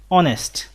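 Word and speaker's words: honest: যেমন হি ইজ অ্যান অনেস্ট ম্যান, অনেস্ট, এখানে প্রথমে এইচ আছে কিন্তু এইচ এর উচ্চারণ না হয়ে একটা ভাওয়েল সাউন্ড হচ্ছে অ, এই কারণে আমরা এখানে এন বসিয়েছি।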